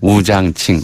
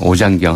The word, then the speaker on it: 오장경: 그 사당에 모셔 있는 사람이 우장칭, 오장경 한국말 발음으로 이라고 하는 당시 이제 청나라 총대장이었던 광동 수사제독이에요.